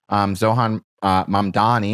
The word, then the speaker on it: Zohran Mamdani: Zohan Mamdani, I'm going to say it right so I